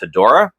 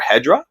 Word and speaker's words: Hedorah: But this week's Godzilla book is Godzilla Rivals Mothra versus Hedorah, or Hedra, however you want to pronounce it.